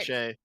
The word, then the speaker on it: cachet: Cachet. Cachet. Cachet. Why is there a T? Listen. Anyways. This is a French thing, but it's bled over heavily into English. The T is silent.